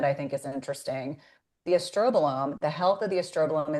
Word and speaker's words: estrobolome: But, that's the estrobolome, not produce produced at pronounced as estrobolomi, but it makes me laugh.